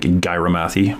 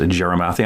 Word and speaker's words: Gyarmathy: texas my friend tammy jerimathy and if you want to look up jeremathy it's actually g-y-a-r-mathy like gyromathy but it's pronounced jeremathy i'm to call her